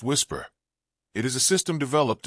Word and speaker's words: WSPR: His idea centered on a technology called Whisper, Weak Signal Propagation Reporter, pronounced Whisper.